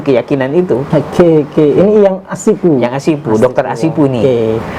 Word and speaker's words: Ashipu: Ada dokter Asipu.